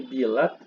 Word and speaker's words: bilat: Biltu ini bilat dibacanya karena dia bersandingan dengan kata ini ya. Nah, ini nih. Ini bilat. Bilat.